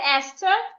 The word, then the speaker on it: Esther: In the word Esther, the H is silent.